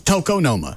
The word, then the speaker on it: tokonoma: for just playing artwork tokenoma Toca I'll go phonetically uh t-o correct okay um well then it's Toko Noma that's called tokonoma you said tokonoma you don't